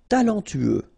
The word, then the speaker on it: talentueux: Talentueux. Final X not pronounced. Then you get this E, U together. E, then T-U, tueux. Talentueux. Talentueux.